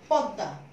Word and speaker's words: পদ্মা: এটার উচ্চারণ হচ্ছে পদ্মা, যেহেতু পদ্মা বলে আমি ঠোঁটকে সংবৃত করে ফেলছি এই জন্য এটাতে ওকার লাগালাম এবং দটার দ্বিত উচ্চারণ করলাম পদ দিয়ে হসন্ত দিয়ে, আবার দুইবার উচ্চারণ করলাম আকার দিলাম এবং লাস্টে আনুনাসিক করে দিলাম চন্দ্রবিন্দু দিয়ে।